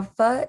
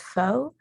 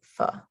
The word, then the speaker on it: pho: my food presentation this week on pho now fa is commonly mispronounced as foe but the correct pronunciation is indeed fa so the history and issues of the tha